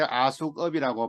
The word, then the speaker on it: AskUp: 이렇게 하시면 돼요 askup요 아까 설명드렸을 때 아속업이라고 발음한다 그랬죠 아 수급 AI 디지털